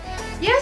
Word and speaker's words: ja: Yang selanjutnya ada ya, nein, vielleicht. Ya, artinya ya, tapi pakai huruf J ya ditulisnya, tapi dibacanya huruf Y.